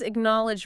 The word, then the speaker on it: acknowledge: The stress is on the second syllable.